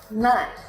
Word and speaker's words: knife: The letter K is not pronounced when it comes before the letter N. For example, no, knife, knee.